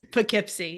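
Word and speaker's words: Poughkeepsie: say it that's okay I'm just reading it as it sounds P Kipsy it's it sounds different than it looks I will let you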